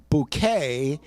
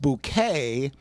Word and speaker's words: Bucket: She was so amazing because the last name is pronounced Bouquet, except it's really pronounced Bucket.